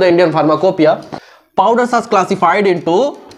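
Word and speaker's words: pharmacopoeia: फार्माकोपिया की spelling लिखो, तो फार्माकोपिया लिखाता कैसे है, फार्माकोपोइया लिखाता है, और पढ़ाता कैसे है, फार्माकोपिया।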